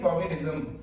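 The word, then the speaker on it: chauvinism: इसकी प्रोनाउंसिएशन होती है शोविनिज्म।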